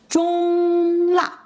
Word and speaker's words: 中辣: 中辣中 first tone, high and level. You should keep your voice even and steady at high pitch.